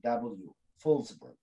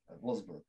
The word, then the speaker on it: Wolfsburg: was deported to uh wolfsburg uh the pronounced w fullsburg wolfsburg uh in june and and yes they deported and concentration camp he died there of tuberculosis in 1942.